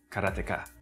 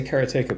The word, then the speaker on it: Karateka: In Japanese, there's no stress on any syllable, so it would be Karateka, something like that.